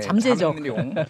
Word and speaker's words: 잠룡: 잠용이라는 표현들 많이 쓰거든요 발음을 잘하셔야 돼요 잠 잠 잠 잠 룡 예 잡 아닙니다 예 그러니까 어 이거를